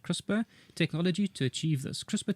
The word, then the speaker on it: CRISPR: Researchers used the new CRISP, which is I'm told is pronounced CRISPR, technology to achieve this.